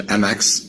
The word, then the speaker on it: Mx: it so for pronunciation mx is pronounced like mix like you're mixing things together so it's mixed sequel